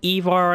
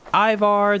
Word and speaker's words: Ivar: so much i know they pronounce it evar on here but there's ivar there's evar the same person either way he should